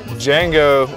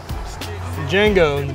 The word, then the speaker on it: Django: I've been told to go Django, D is silent, and Wookiee style.